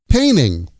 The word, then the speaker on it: painting: Painting. Painting becomes paining. Paining. It's a nice paining.